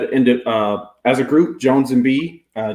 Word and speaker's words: Joanz & B3E: singles everywhere everywhere under Jones and be just like social handle everything j o n z b3e not pronounced B3 it's Jones and B but b3e is how